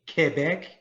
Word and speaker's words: Quebec: the other city uh quebec qu does is not a quoi in french it's k quebec and the island was